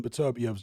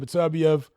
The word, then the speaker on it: Beterbiev: Bivol's jab is actually more solid at the moment than Beterbiev's jab.